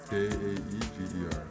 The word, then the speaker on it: Jaeger: So I'll ask me, how do I pronounce it? Is it Jaeger or Jaeger? Jaeger.